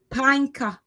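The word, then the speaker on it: Pankaj: Panka. Huh? Panka. Panka. Okay, so just the J is silent.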